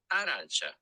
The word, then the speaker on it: arancia: Arancia. Arancia. Arancia. Arancia. R. I'm not good at that. Roll your R.